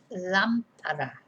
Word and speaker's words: lámpara: If we didn't have an accent in this word, it would be lampara, because the stress would be on the second A, from the end, second syllable from the end, the penultimate syllable. Lampara, not lampara.